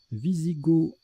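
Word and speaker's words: Wisigoth: Visigoth, avec ou sans œufs, c'est un adjectif, on l'écrit avec un W, on ne prononce pas le TH.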